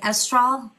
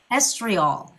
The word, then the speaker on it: estriol: as now I'm saying am I saying it right estral estriol estriol M for estriol cream amazing I got it I'm going to say